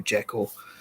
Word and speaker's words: Jekyll: Jekyll, or Jekyll, as he's properly referred to. That's the actual way to pronounce it.